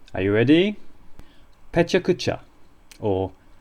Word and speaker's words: pecha kucha: pronounced are you ready pucha or pucha all of the syllables and there are four of them have roughly equal length like many Japanese words